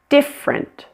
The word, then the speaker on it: different: Kids, big, different. Notice this word has a dropped middle syllable. It's only 2 syllables. It's different, different.